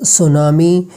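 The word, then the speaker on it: tsunami: mixture है for example सुनामी इज a Japanese word psychology is a Greek word अब यहां पे देखिए यहां पे टी जो है इसका आवाज साइलेंट है और यहां पे पी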